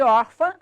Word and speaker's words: órfã: A sílaba tônica de órfã é or.